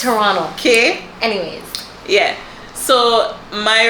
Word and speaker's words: Toronto: It's Toronto. I will never, not guys. Toronto. Like, Toronto, okay? I just pronounce it like a Caribbean person because I am from St. Vincent and the Grenadines. It's Toronto.